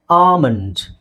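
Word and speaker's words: almond: ಇಲ್ಲಿ L silent ಆಗಿರುತ್ತೆ L silent ಆಗಿರುತ್ತೆ ಕಾಮನ್ ಆಗಿ ಎ ಮತ್ತೆ ಎಲ್ ಬಂದಾಗ ಆಲ್ ಅಂತ ಬರುತ್ತೆ ಆಲ್ ಅಂತ ಬರೋದು ಬಹಳ ಕಡಿಮೆ ಸ್ಟಾರ್ಟಿಂಗ್ ಅಲ್ಲಿ ಅಥವಾ ಮಧ್ಯದಲ್ಲಿ ಬಂದಾಗ ಓಕೆ ಸೊ ಅದಕ್ಕೆ ನಾವು ಇದನ್ನ ಏನಂತ ಹೇಳ್ತೀವಿ ಆಮಂಡ್ ಏನಂತ ಹೇಳ್ತೀವಿ ಆಮಂಡ್ ಸೋ ಇಲ್ಲಿ ಇದು ಬ್ರಿಟಿಷ್ ಐಪಿಎ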